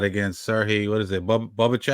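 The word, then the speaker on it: Bohachuk: Bubachek? How you pronounce that name? Bubachek? Bahacek.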